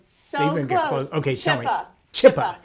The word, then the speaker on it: Zschuppe: Zschuppe. Like you eat a chip and then yes.